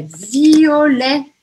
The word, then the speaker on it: violet: Aí, a gente tem roxo, é violet. Violet, violet. O que, que eu não pronuncio aqui? O T no final.